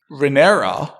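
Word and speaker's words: Rhaenyra: yeah he could at least keep everything together renera which I'm finally pronouncing correctly thank you is probably the most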